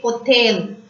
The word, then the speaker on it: hôtel: Next, H is always silent in French. When you see a word which starts from H, we don't pronounce the word H. Just like that, we say hotel.